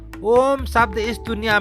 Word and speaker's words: ओम: जिसे ब्रह्मांड कहते हैं ओम शब्द इस दुनिया में किसी ना किसी रूप में सभी संस्कृतियों का प्रमुख भाग है ओम शब्द आ उ मा अक्षर से मिलकर बना है ओम के उच्चारण